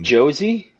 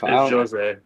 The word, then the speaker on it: Jose: Is it Josie? Is that how they? It's Jose. It's Jose. Okay.